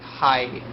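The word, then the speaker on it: はい: I know it no how you pronounce it it's I like uh like ha like hi not like high like like h-a-i but like there's another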